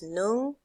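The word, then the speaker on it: ໜຶ່ງ: Okay, so 1 is nung, 2 is song, song, okay, song, all right, that's number 2.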